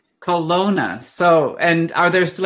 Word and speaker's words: Kelowna: see you too now how is the town pronounced in the native language Kelowna say that one more time Kelowna Kelowna so and are there still any Grizzlies around